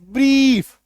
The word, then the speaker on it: brief: अभी देखिए जब IE बीच में आए, लास्ट में नहीं आए, तो ये सिर्फ और सिर्फ बड़ी इकार की मात्रा बन के रह जाएगा,